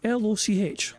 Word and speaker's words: Loch: Mister says, how do I pronounce that? Loch, L-O-C-H, Loch.